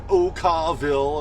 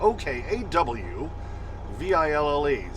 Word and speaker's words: Okawville: Okay, so here I am parked at the Road Ranger in Okawville, and I always say it that way because that's the way it's spelled. O-K-A-W-V-I-L-L-E. That's Okawville.